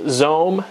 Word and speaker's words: XOHM: pretty big day as the xohm pronounced Zone service from Sprint launched